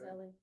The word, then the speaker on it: Elle: Well, I think it's L Oh, L. versus Ellie. It is Ellie. Oh, it's spelled E-L-L-E.